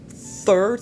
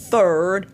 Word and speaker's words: third: On dit third, on ne dit pas third.